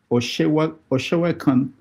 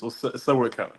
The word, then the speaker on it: Sewekan: Oshewekan, did I pronounce it well? Yeah, it's an good name. It's Sewekan. Oh. I'm Okay. from Badagry. Say that again. Sewekan. Yeah. Sewekan. Okay. Yeah. All right. So Se is like God, and then Kan